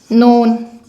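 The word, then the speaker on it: know: आपको लगेगा, या फिर नोन, के बाद एन, के की कोई साउंड नहीं, हमेशा अल्फ़ाबेट एन की साउंड से ही शुरू होगा।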